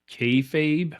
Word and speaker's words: kayfabe: familiar with um called kayfabe I'm not sure if I'm saying that right y you're saying it right uh so so explain